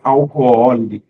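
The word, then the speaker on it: álcool: existe na l então o assento é aqui ó alcool a pronúncia é isso é alcool interessante né mas quase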